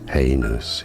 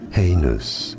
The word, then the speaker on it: heinous: Heinous is how you say it. Heinous. Heinous. Both British and American pronunciations are similar here, so it's easy.